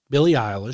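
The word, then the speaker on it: Billie Eilish: But apparently there was a uh artist there named Billy uh Isish, I believe, is how you pronounce her name. Um Billy Isish.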